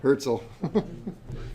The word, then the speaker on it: Hartzell: All right, let's talk about the Hartzell. Or how's it pronounced, Tyler? Herzl. I like that.